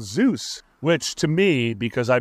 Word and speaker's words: Zeus: got to be called Zeus which to me because I believe that Zeus is just another Avatar of God I like to pronounce zus because zus and Deus are actually close homonyms and I believe you